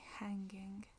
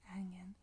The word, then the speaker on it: hanging: G I N G OK Hanging hanging ça serait façon formale de de le prononcer hanging mais en Manchester on dit hangen c'est hangen et ça veut dire dégoutant c'est complètement dégoutant je le déteste.